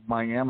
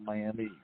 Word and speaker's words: Miami: so say it and we have Miami Oklahoma not Miami so okay so Patrick